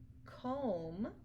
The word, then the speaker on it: comb: to remember these tricks so for example crumb Clym comb thumb limb and lamb you don't hear a buck but sound at the end so these are only